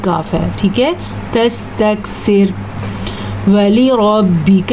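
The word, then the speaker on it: ولربك: تستکثر۔ ولی ربک، را پر پڑی جائے گی، کاف کو لمبا نہیں کرنا، واو کو لمبا نہیں کرنا، والی ربک نہیں کہنا، ولی ربک، تلفظ پہ دھیان دیں،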